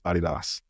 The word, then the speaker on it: Adidas: Internationally, it's Adidas, because Adi Dassler, right? That is the founder, right? That's the name. His name is Adi Dassler. So Adidas. Nice.